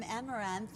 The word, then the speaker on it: Amaranthe: I'm Juliette Huddy here with the beautiful Elise from Amaranthe, and that's how you pronounce it.